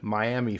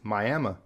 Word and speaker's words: Miami: Another one where one of the cities is much more well-known than the other, we have Miami, Florida, but if you go up to Oklahoma, it's Miami.